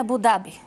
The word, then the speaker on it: Абу Даби: Правилното произношение е Абу-Даби. Абу-Даби. Но в България сме приели Абу-Даби.